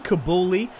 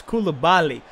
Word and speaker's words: Koulibaly: I've been saying Kabuli, like the former defender from Tottenham, for Koulibaly. Apparently, that's how you specifically say his name. I just sort of read it and assumed it as Kabuli. It's Koulibaly, kind of like Eric Bailly, kind of.